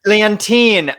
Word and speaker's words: Leontyne: both happened in february leontyne leontyne i'm so sorry i'm gonna have to say it like 10 times in the mirror after this rhymes with hydroxychloroquine oh god we uh we